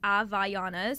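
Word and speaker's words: Havaianas: Um but yeah, I just also people need to stop saying it wrong. It's a Vayana. It means Hawaiian in Brazil.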